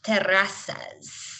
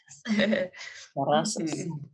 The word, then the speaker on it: Terrazas: It's pronounced Terrazas, yeah, but that's only if you want to have some fun with it. Okay. I do. It's like terraces. Terrazas.